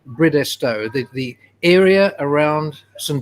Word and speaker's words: Bridestowe: quickly you know i've heard uh many people pronounce bridgestow differently i've heard bridestowe british stove bridgestone can you just clear the air for us